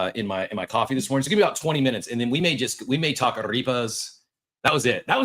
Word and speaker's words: arepa: You want a short E sound in the middle, eh, not E. Arepa.